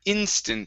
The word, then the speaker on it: instant: go to the word instant here so we're working on the short i so instead of saying